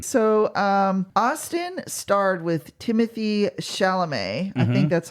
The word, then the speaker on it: Chalamet: So, Austin starred with Timothy Chalamet. I think that's how you say his name. I think the T on the end is silent.